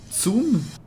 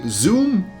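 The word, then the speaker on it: zum: it's a soft G don't say zoom the set is like a TS sounds you say soon so pretend you're saying zoom in on your camera but instead of the Z sound you say it's soon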